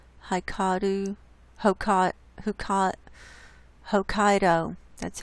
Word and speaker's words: Hokkaido: island huh cot high cotton Pokot who caught Hokkaido that's how you say it just to the